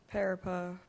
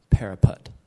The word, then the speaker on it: parapet: Parapa. P. Let me correct that pronunciation. Parapet.